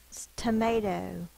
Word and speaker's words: tomato: with o o tomato syllable break to may toe this is an open syllable but it's unstressed so it's going to say the uh sound may is actually the stress syllable so it's going to be the long sound to open syllable and